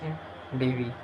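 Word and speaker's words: endeavour: This is a rather formal word consists of 3 syllables. The first in pronounced like the word in, while the next syllables rhyme with the word of never. The word is pronounced in Devi. With a stress on the second syllable, it comes from the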